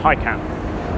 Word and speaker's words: Taycan: This is the Porsche Taycan, and that is apparently how you say it. It's not Taycan or Tin Can, it's Taycan.